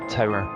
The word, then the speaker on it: tour: About halfway through our 12-hour tour, pronounced tower, and we had pretty much finished and were making sure everything was tied down securely for the rig move.